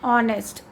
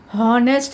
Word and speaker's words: honest: H is silent, children, over here.